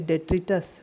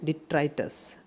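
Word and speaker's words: detritus: कुछ लोग इसे बोलेंगे डेट्रिटस, नहीं, इसे सही से प्रोनाउंसिएट करिए डिट्राइटस। डिट्राइटस, डिट्राइटस ये नाउन है, ध्यान रखिएगा।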